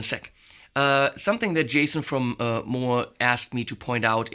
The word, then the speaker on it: Mooer: see on Mooer pedals, this is how you say it, by the way, Mooer, not Mooer or Mooer or Mooer or any kind of variations I frequently do. It's more like, more. Less, more, but they're not less, they're more.